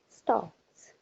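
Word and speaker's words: stalks: एस टी ए एल एस टी ए एल के एस L silent है that is अ स्टॉक्स there he स्टॉक्स once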